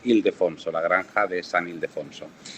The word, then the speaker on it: Ildefonso: comentando antes al principio, yo a veces pronuncio mal la segunda parte, digo Ildefonso y es Ildefonso, la granja de San Ildefonso.